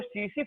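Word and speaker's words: tsetse: एक मक्खी होती है, एक फ्लाई होती है, उस फ्लाई का नाम है सीसी फ्लाई, सीसी फ्लाई। इसको टीसी टीसी लिखते हैं, लेकिन टी साइलेंट है, this is called सीसी फ्लाई।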